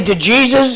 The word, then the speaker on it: DeJesus: So the right pronunciation of the last name is Dejesus. Dejesus. That's the pronunciation. And then my fellow Americans say DeJesus.